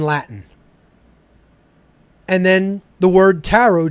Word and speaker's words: tarot: that is is the tarot itself okay it's a phonetic equivalent t r o the last T is silent then a r o